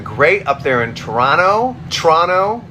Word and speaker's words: Toronto: up there in Toronto Toronto as I believe it's pronounced Toronto that first o is silent um Kinley says hi